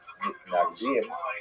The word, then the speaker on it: Mitnagdim: He is the acknowledged head of the movement known as the Mitnagdim, or the Misnagdim, as it is pronounced in Ashkenazi pronunciation.